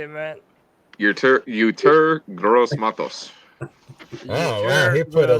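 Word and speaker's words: Yetur Gross-Matos: Uter Gross Matos.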